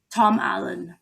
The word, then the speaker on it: Tom Allen: Tom Allen. And it's spelled Alenig.